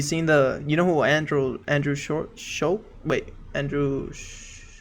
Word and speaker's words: Schulz: Have you seen you know who Andrew Schulz?